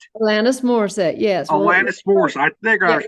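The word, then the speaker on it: Alanis Morissette: the Mel Brooks and elanus I might be mispronouncing this person's name elenis moriset elenis moriset yes Alanis moris I think I was pronouncing Rock and roller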